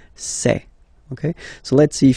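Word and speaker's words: ces: And for the plural, c'est. Really open this c'est.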